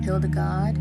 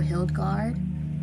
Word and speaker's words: Hildegard: Abbess is spelled ABBESS. Hildegard or Hildegard, HILDEGARD.